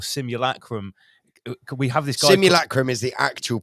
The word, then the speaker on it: simulacrum: um simil or simulacrum we have this guy simulacrum is the actual pronounce the correct pronunciation but if you think about it the way that Jason says simil is is the same way that American people